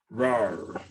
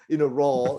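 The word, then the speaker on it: راء: Okay, so a little bit too much roll there. Okay. Raw. It's actually a raw. So Raw. don't roll too much. Don't say the raw, which is a little too much rolling, right? On the tongue. So less of that rolling.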